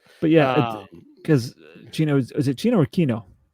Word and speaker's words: Chino: But yeah, cuz Chino is it Chino or Kino? I say Kino. Yeah, it's in the American dub. It's pronounced Kino.